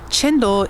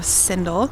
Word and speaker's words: cendol: I do want to note that a lot of you guys have told me chendol is the right way to pronounce it instead of sendol.